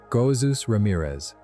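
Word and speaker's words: Jesús Ramírez: His name is Jesus Ramirez, pronounced the Spanish way, and Seuss is a childhood nickname derived from it.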